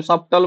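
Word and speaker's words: subtle: सब्टल the word सब्टल Etah silent कोन होची सबल सबल टी साइलेंट होची सब्टल बोली कहै छै मु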